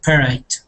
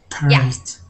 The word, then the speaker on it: parade: parade parade parade yeah so you guys would say it like this parade okay parade okay parade yeah parade exactly people are saying it parad it's not that it's parade okay parade so in a parade